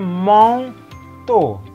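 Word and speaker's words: manteau: Ya, makanya dibacanya mong to, bukan ke atas.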